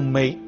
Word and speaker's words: 糜: 那么这一支应该读梅，啊，因为这个谷物读梅。现在可能大家都统一读成糜了。